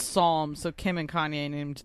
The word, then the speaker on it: Psalm: Yes, I would say Palm, I wasn't raised, but I'm wrong. So right, I wasn't raised. I looked it up. Yeah, I saw somebody. So. Yeah, I saw somebody like, "You're saying it wrong." I'm like, "Oh shit, I better learn how to say this right." So it's Psalm.